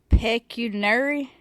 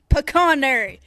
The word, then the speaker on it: pecuniary: Really? Peunary. Close. Pecunary. Pecanary. It's pecanary.